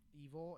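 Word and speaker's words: EVOL: haven't listened to evil it's it's pronounced evil yeah it's love backwards but it's supposed to be evil lol edgy hey lamell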